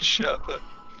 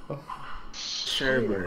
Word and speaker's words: sherbet: Cry about how you can't say the word sherbet. Sherbet. Sherbert. Okay, here's what you're doing wrong. Right? You're putting so much emphasis on like the syllable at the end, and that's not how you say it.